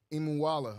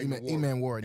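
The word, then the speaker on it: Emmanwori: I can't pronounce his name. Imuwala. Yeah. Man. But he put on a show at the combine, and we definitely need some help. E-Man Warrior. I said it wrong. Yeah, E-Man Warrior.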